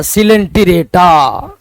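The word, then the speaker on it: Coelenterata: या दूसरा फाइलम है सी ओ ई को पढ़ते सी लेन एल एन लेन पी रेटा हिंदी में इंग्लिश में पढ़िए बड़ी आसानी से सी लेन टी रेटा सिलेंटरेटा पढ़ लिया है टी ओ ई को सी पढ़ना है और उसके बाद एल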